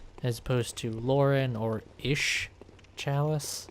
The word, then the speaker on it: Isz: opposed to Lauren or Ish Chalice. That's how I pronounce it. ISZ. Just seems like an Ish.